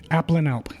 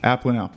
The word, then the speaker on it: Aplanalp: say your last name appan Alp app and Alp that's what that's what I thought just sound it out it looks tricky at first glance but it's really only three syllables cool so Appling